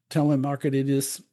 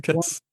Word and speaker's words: Thrasymachus: Telemarketus. His theory. Thrasymachus.